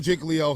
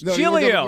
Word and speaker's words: Giglio: like our chance about winning the game Joe jig Leo Hugh Douglas let that go it's jilo jigo they keep telling me jiggo giggo what do I'm hearing I'm hearing yesterday